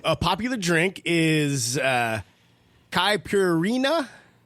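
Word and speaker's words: caipirinha: popular drink is uh kai purina c-a-i-p-i-r-i-n-h-a with pronunciation of copper reena you know hey our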